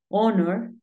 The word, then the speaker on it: honor: yo te comentaba que si la H es muda se considera como si la palabra iniciara con vocal porque acuérdate que la H casi siempre suena como una J House home horse Pero hay algunos casos como cuatro palabras en las que la H es muda por ejemplo agua que es hora tenemos honor y tenemos onest esas tres son las